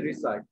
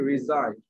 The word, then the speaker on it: reside: এখন তুমি শুদ্ধ উচ্চারণ বলতে পারা, রিসাইড, উচ্চারণ ভুল উচ্চারণ হচ্ছে রিসাইড, শুদ্ধ উচ্চারণ কি? রিজাইড।